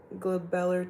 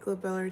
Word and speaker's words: glabellar: Oh yeah, I know my teacher's gonna ask us about the glabellar tap. Is it called the glabellar tap? I need a pronunciation of that right now.